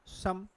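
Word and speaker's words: summer: फिर क्या लिखा है, सम। फिर क्या होगा, मैनी। और फिर देखिए समा, और क्या होगा, डिम। एंड का आर है, उसका उच्चारण करना नहीं होता है।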